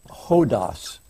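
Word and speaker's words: ὁδός: just put up one Greek word this is pronounced ho DOS and this this this word is kind of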